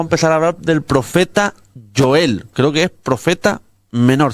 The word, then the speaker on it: Joel: Yo lo llamo Joel. Algunos le dicen Joel. Yo, como en mi Biblia sale con J, yo lo pronuncio Joel.